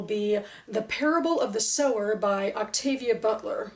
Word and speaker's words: Sower: The Parable of the Sower by Octavia Butler, which I believe I've been pronouncing as sour, not thinking about to sow and sower.